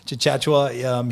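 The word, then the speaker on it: Tchatchoua: about one of the other newcomers uh jonathan chachachua did i did i do a pretty good job of pronouncing that very very very close yeah chachua he is a i watched him in practice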